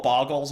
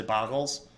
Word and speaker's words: Bogles: expect uh bogles which I'm going to call bogles even though I know it's pronounced bogles uh cuz it's more fun to say boggles bogles get a little Chicago with it um